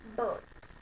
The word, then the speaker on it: bird: आई जब भी चेंज होगा, आर आपने साइलेंट किया और आई किस में चेंज हो जाएगा, ए में. Pronunciation बर्ड.